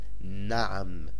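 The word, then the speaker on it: نعم: It is pronounced Naam, and Naam means yes.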